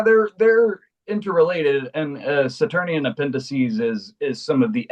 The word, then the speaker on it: appendices: So appendices like appendix.